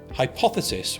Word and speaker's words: hypothesis: By the way, hypothesis with 4 syllables is the most complex word we use in the ABCDE way.